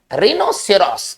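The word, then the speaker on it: rhinoceros: सभी में कॉमन बात है आर का अकेले नहीं आना, आर एच का एक साथ आना।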